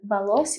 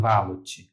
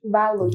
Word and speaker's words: Valocci: E como se pronuncia? Valossi ou Valotti? Valotti. Valotti. Valotti. Isso.